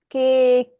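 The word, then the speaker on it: ケーキ: the last one cake it's not your interpretation what is it hi is that hi this is what I meant right not our interpretation of the word there is a Japanese word already right K is the correct word if you say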